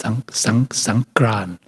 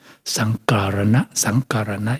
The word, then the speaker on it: Songkran: It means Songkran, Sankarana, it means moving the season.